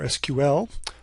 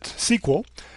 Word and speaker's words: SQL: tell you about the structured query language or sql or as many people who are not me pronounce it sql and how you can use this language to